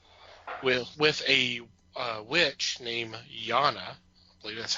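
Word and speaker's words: Yonna: west road trip with with a witch named yana i believe that's how you pronounce it y-o-n-n-a and apparently she's being hunted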